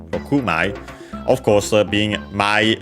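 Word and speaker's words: 六枚: Notice that in this case the accent is Rokumai, so on the ku, on the last syllable of the number 6 in Japanese, so Rokumai.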